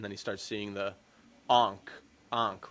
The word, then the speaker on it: ankh: Ryan sees somebody die, and then he starts seeing the Ankh, right?